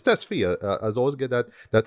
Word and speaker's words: Tesfaye: It's Tesfaye. I always get that Can't surname wrong, remember. right? Yeah. I think I Please. just assume Testfire because somebody else we kind of know this also usually Testfire thing.